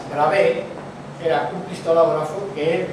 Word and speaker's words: Bravais: Porque hay un señor que se llamaba Bravais, escrito, os lo nombro, como se escribe, Bravais, Bravé, era un cristalógrafo que él dedujo que eran 5.